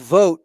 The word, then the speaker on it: Voigt: Luke Voigt. Yeah, what did you want to say about him? Most names are pronounced exactly as they look. So yes, I'm looking at his name. It is very clearly Voigt.